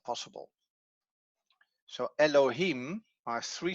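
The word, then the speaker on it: אֱלֹהִים: little dots over here you see el lo him and you see exactly the same as i did the vowel mark the syllable markers are here here and here so there are three syllables elohim here we have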